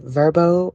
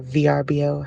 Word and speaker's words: VRBO: our accommodations off of verbo or VRBO however you want to pronounce it um we booked or